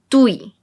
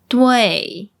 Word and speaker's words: dui: And this is not pronounced as dui. It's dui. Dui. There's an E in between. Dui.